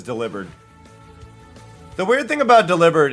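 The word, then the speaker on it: Delibird: Even though everybody I knew growing up said deli bird. That is deliber.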